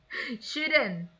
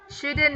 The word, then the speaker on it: shouldn't: Shouldn't. Shouldn't ya. Bukan should. L-nya itu nggak ada. Nggak dipakai.